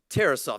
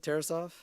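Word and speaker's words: Tarasov: there also another one something to think about terasoft that's how you pronounce it terasoft there you go that's how you pronounce it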